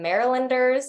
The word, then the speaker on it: Marylanders: Louis people in the house, some Marylanders.